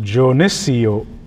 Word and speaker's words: Geneseo: is what we call Genesee. And it's often referred to as Geneseo. But the traditional name is supposed to be pronounced Geneseo, which means the place of the good sand.